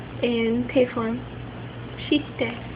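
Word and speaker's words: して: So suru changes to shite in te form. Shite.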